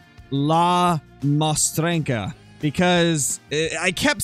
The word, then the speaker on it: La Mostrenca: need to correct my I believe the way you pronounce his name is LA moena because I kept saying